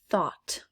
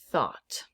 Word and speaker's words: thought: with a silent g's thought thought there's a gh in there that i do not hear a assignment assignment again